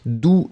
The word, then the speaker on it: doux: So in that case, you've got the masculine form, doux, D-O-U-X, and then feminine form would be douce. Remember, for the masculine form, you don't pronounce the final X, d'accord?